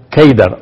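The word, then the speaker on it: Qedar: a través de Cedar en árabe la palabra seda se pronuncia keider o se escribe keider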